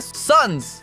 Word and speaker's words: son: Essa palavra soa como son, um som parecido com o som inicial da palavra do português santo.